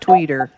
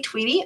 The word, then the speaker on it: Tweedy: or uh regional director tweety not tweeter i'm sorry i knew i pronounced that wrong immediately no worries good afternoon